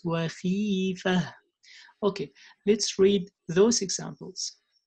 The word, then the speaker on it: خيفة: It's not khifa. No, it's khifa. It's not khifa. No, it's khifa.